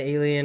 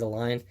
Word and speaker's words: Align: If you're extremely experienced in RC helicopters, I think the T-Rex brand, Alien, or Align, that's how you say it, is Align, helicopter brand is a really, really good high-end helicopter brand.